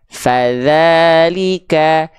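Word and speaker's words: فذلك: Ujung lidah disentuhkan tipis-tipis ke ujung gigi seri atas. Nempel tipis-tipis. Nggak digigit. Enggak ditekan kuat-kuat, nempel tipis-tipis. Nih. Za, fadza, fadzalika. Jelas sampai sini? Paham sampai sini? Fadza. Jadi ngalir suaranya, bukan digigit.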